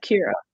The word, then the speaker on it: Kira: So I forget, how do you pronounce, is it Kira? Is that how you pronounce her first name? Yeah, Kira.